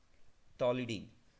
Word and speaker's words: toluidine: मैं थोड़ा स्पेलिंग अच्छे से लिखता हूं, टी ओ एल यू आई डी आई एन ई, टॉलिडीन.